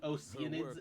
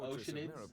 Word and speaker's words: Oceanids: is well with her think saying oids instead of oceanids which is a right pronunciation just another English dub